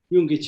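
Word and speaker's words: Jungić: is vasalin yoongi and you pronounce this young jungkich as a german jung with the slavic kids and i've been i'm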